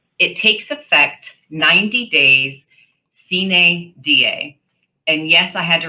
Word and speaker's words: sine die: It takes effect 90 days sine die. And yes, I had to write down the pronunciation for myself and highlight it over here.